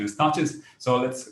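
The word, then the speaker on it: Tacky's: learned a new thing ah so the proper pronunciation is touches so let's call it the touches revolve the study of an atlantic slave war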